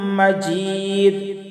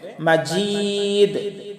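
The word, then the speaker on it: مَجِيد: হামিদুম মাজিদ হামিদুম। এই যে এখানে মিমের উপরে তাসদিদ আছে, এখানেও গুন্না করতে হবে। দুম মাজিদ জিমিয়াজের জি, এখানে একটু শক্ত করে উচ্চারণ করতে হবে। মাজিদ মাজিদ।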